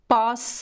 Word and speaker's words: posso: and then we have the word posso with double s which is the verb poder the word poder means can or to be able to and it is conjugated for the first person pause with the open ah and there's this fun